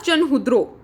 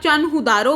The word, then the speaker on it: Chanhudaro: इसको चाहे आप चनहुदारो बोल दो, ये आपकी प्रोनाउंसिएशन पे डिपेंड है कि आप उसको किस तरह से प्रोनाउंस करते हैं, चनहुदारो या चनहुद्रो, जैसे भी आपको सही लगे आप इसको बोल सकते हैं।